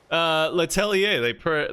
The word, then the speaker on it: Letelier: Letelier, they pronounce that with an A at the end, like Xavier.